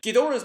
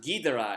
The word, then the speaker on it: Ghidorah: Ghidorah's name is pronounced Ghidorah in this movie. Eventually, the name was pronounced Ghidorah because it just sounds cooler.